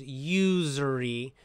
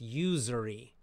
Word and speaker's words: usury: so american pronunciation is usury so it's got that z it actually is like a z sound z that buzzing z z right not use